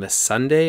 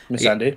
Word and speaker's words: Missandei: We have Grey Worm and Missandei, or how do you pronounce her name? Yeah, that was pretty good. Missandei.